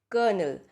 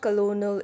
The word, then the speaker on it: colonel: do you see : L well the actual pronunciation for this would be Colonel so you seeker null so it's not colonial it's not Colin L it's Colonel so this